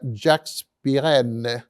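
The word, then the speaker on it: Jacques Pirenne: mencionaremos al autor belga Jack piren pronunciado en francés Quien escribió una extensa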